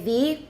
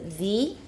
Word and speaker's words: the: of all the easiest it's better to say V with a word that starts with a vowel the the other the egg the airplane the easiest remember to pronounce it V sometimes there's a little